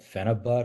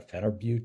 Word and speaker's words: phenibut: There's a other drug called phenibut or phenibut, depending how you pronounce it, that's very similar to baclofen.